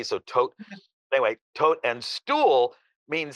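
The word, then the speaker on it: Tod: in ger was that tote to o d uh but it's pronounced like the D is pronounced like a t so tote anyway tote and stool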